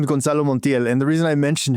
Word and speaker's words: Gonzalo Montiel: His his name is Gonzalo Montiel.